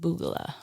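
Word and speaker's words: BOOGALAH: is pronounced Boogala.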